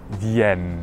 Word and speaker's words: viennent: vous venez, ils, elles viennent. Attention à la prononciation, quand on a un E suivi de deux consonnes, on ouvrira le E, donc viennent.